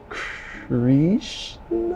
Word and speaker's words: Krishna: Who is Krishna?